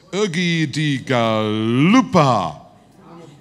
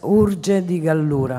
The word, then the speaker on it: Urge di Gallura: Ah, this is Ugi di Galupa. Sorry? Yes? I can read. Uno di... Oh, sorry. Ugi di Galupa. It's Urge. Urge. Urge. Yes, Urge di Gallura.